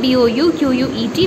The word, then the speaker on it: bouquet: So the correct word will be bouquet of flowers. So I have written B-O-U-Q-U-E-T. We are going to pronounce it as bouquet, not bouquet, as you were pronouncing in the class. That was wrong.